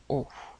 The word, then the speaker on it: au: va utiliser la contraction aux éclats ce noté la différence il va au commissariat il va au cours de tennis prononciation identique et on prononce comme la lettre o d'accord par conséquent attention